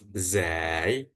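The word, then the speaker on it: ز: Kemudian yang huruf zai. Nah, huruf zai ketika di ketika berharakat fathah itu bacanya bukan d tapi za.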